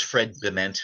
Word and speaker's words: Bement: Yeah, my name's Fred Bement, which is spelled like cement with a B.